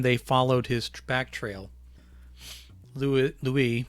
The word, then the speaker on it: Louis: By the time they followed his back trail, Louis, pronounced in the French way, was in a bad shape.